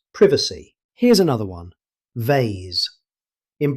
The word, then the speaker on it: privacy: In British English, it's pronounced as privacy. Pay attention to the short E sound at the start, privacy.